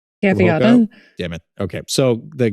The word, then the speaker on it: Gaviota: This is the new shoe I can't pronounce correctly. The Gavoida. Gaviota. Damn it. Okay. So the Gaviota from Hoka, the 6 has also been awesome.